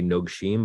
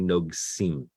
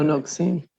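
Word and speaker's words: נֹגְשִׂים: And I also often mispronounce this when I lane it because my mouth wants to say nogshim, but it's actually nogsim. It's a sin. Oh, nogsim.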